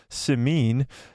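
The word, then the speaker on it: Simien: vanity reported that dear white people Creator Justin sameen that's how you say it I had to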